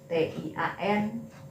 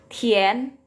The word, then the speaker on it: tian: Nah, aturan yang lain, ketika ada pinyin IAN ya, misalnya MIAN ya, TIAN seperti ini, DIAN ya, itu bacanya harus selalu yen.